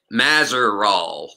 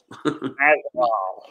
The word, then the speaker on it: Mazeroll: Mazeroll. Did I pronounce that the proper way? Unless you're really French, then no. But yeah, that's how we Americans pronounce it. Mazeroll. Mazeroll.